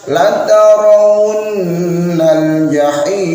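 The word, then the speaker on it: لَتَرَوُنَّ الْجَحِيمَ: Harusnya la tarawunnal jahim. Demikian cara bacanya.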